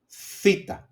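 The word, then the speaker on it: θήτα: Then we have theta, thu, like thin.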